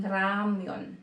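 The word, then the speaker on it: 라면: Example, yung ramen. Yung ramen, pag convert mo sa Korean, magiging ramyun. Ramyun. Ramyun. Diba? R. Ra.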